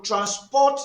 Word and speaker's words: transport: The other word transport now transport I will transport you to Lagos. In this context, the word transport or transport is simply a verb and it must be stressed on the second syllables.